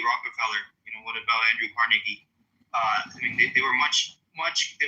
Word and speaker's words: Carnegie: more than I respect Carnegie or Rockefeller. They were very greedy men. Well, pronounce his fucking name right. It's Carnegie.